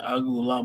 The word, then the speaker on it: Uiagalelei: DJ Uiagalelei, how do you pronounce his last name? Oh, my goodness. My God. Horrible. DJ Uiagalelei.